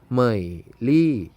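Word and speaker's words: 美丽: ครับ นัก เรียน เรา ซื้อ อ่าน ได้ ว่า เหมยลี่ เหม่ย รี่ ใหม่ รีบ แปล ว่า สวย งาม หรือ ว่า สวย เหมย หลี่ ลี่ เจียง ซิง เจีย จิ้ง บ้าน เกิด เหมยลี่ เหมยลี่ แปล ว่า สวย อ่ะ ต่อ ไป หมู่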